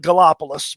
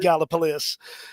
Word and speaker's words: Gallipolis: 7 in Gallipolis, or for the out-of-towners, they call it Gallipolis, but it's actually pronounced Gallipolis. That is the actual way to pronounce that.